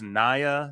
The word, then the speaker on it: Nia: And then when Nia went up for her set, she flipped it on him. She's like, hey, David, it's Nia, not Nia.